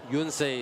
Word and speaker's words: Yonsei: Sorry, Yonsei is the actual pronunciation. The players and the coaches taught us how to say that.